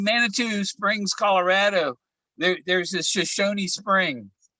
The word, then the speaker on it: Shoshone: There's a Shoshone Spring. And I think it's just Shoshone. That you don't pronounce the E. Yeah. Shoshone.